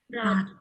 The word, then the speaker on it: Rat: So guys, how would you pronounce this word if you see this word in German? Hot. Rat.